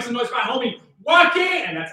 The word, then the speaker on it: Joaquin: It is not pronounced Joaquin. You best come correct. Y'all make some noise for my homie, Joaquin!